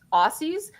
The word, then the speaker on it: Aussie: I mean, the way it's spelled is Aussie for Aussie, but you can actually think of it as like Ozzzie, and that'll get you probably closer to the correct pronunciation if you think of it that way.